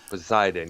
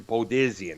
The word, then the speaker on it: Poseidon: in the wake of poseidon poseidon yeah there you go i keep pronouncing podesian i don't know why i do that man i don't know but podizen but uh like you